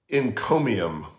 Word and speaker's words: encomium: fancy word it's called in chromium and that's spelled e-n-c-o-m-i-u-m in i have to say it very carefully in chromium and an encomium